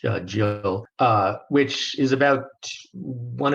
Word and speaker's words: gill: quarter a quarter Gill it's spelled g i l but I believe it's pronounced Jill uh which is about